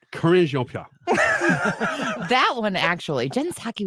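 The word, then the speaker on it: Karine Jean-Pierre: Corinne Jean-Pierre.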